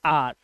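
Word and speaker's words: our: इसे पढ़ते हैं आर ध्यान रखना इसे आवर नहीं पढ़ते आवर माने तो घंटा होता है ठीक है इसे पढ़ेंगे आर आर माने हमारा ठीक है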